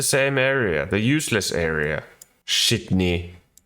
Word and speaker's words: Sydney: area the useless area shitny that's how you pronounce it if you haven't watched